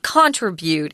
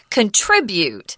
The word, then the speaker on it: contribute: Guys, I hear a lot of people in Taiwan say contribute. It's contribute. So the zhongyin is on trit, contribute.